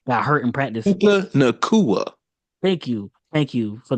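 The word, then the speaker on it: Puka Nacua: Seem like the Rams are starting to get their players back from injury, even though Puka Nakuda, I can never say his name right, got hurt in practice. Puka Nakua.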